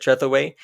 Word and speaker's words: Trevorway: And the name that was picked was Nathan Trevorway, I think is how you pronounce it, Trevorway. It rhymes with giveaway, so that's how I'm trying to remember it.